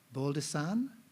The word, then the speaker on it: Baldessin: now Stefan, I've got to say it correctly, Baldessin, George Baldessin.